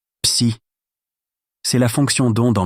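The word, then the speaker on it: ψ: Se prononce psi.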